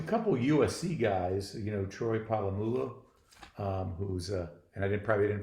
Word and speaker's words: Polamalu: Well, a couple of USC guys, Troy Polamalu, who's and probably didn't pronounce that right. Polamalu, you're good.